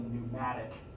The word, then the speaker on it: pneumatic: before it's called a pneumatic system pneumatics and this it has a silent p on the front p n eu matic is basically the same